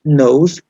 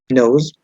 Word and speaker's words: nose: En el caso de, se dice nose, nose, pero se escribe no sé.